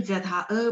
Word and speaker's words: 折: 劝君莫惜金缕衣，劝君惜取少年时。花开堪折直须折。Ini ZHE bacanya ce nada dua.